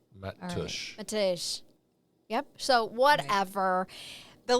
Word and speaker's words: Mateusz: Do you want me to spell Matej's name for you? Yes. So you can understand it? MATEUSZS. Matush. I had to put it into. I'm telling you, Matush.